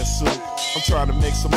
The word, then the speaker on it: Sup: Man, it's the S-U-P, pronounce that soup.